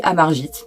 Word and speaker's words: Amarjeet: pu voir mais nous on va l'appeler à margite parce que c'est comme ça qu'on l'appelle le plus couramment donc je pense que